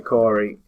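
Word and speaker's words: Khoury: this um Peter um it's spelled p that's normal k h o u r y yeah so Peter Corey I would say case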